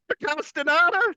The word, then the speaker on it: Castaneda: But he's just been named to the USA Paralympic soccer team, and I'm very excited to announce Castaneda.